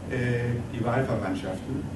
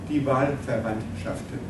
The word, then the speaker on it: Die Wahlverwandtschaften: can be explained by chemistry in his novel, Die Wahlverwandtschaften. And so very many people love this idea very much. How do you say it in German? Die Wahlverwandtschaften.